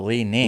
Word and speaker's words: Li-Ning: Leaning? L-I-capital N. Lee. I-N-G. Oh, Lee Ning.